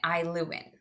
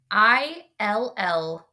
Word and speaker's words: Illuin: So one lamp they put to the north and they name it Iluin. I spell it out. Illuin.